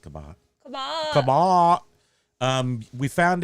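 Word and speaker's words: Cabot: yes we were in uh it's it's actually pronounced kabat kabat kabat um we found it when we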